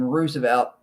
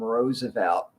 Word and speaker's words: Roosevelt: many years before him, Theodore, pronounced his last name Roosevelt, and Franklin Delano pronounced the last name Roosevelt. That's why you'll hear 2 different ways of pronouncing that name.